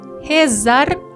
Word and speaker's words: rezar: Esta frase: nos vamos rezar o terço. Veamos aquí el verbo. Rezar. Rezar tiene dos sílabas. La sílaba tónica es la última.